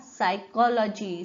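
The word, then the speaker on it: psychology: आता सायकोलॉजी, स्पेलिंगच पूर्णपणे वेगळं आहे सायकोलॉजीचं, इथे पी सायलेंट आहे.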